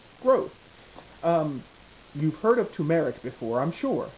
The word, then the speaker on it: turmeric: um you've heard of tumeric before i'm sure and yes that is the correct way to actually pronounce it not turmeric tumeric well it also has